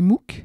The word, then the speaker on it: MOOC: l'attirent je vous explique les mouques ça s'écrit m o o C c'est pour massive open